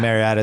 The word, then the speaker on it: Mariota: I knew it heading in, and I can't say Mariota's name correctly. I was calling Mariota. It's Mariota. Close, yeah. I just say it wrong every time.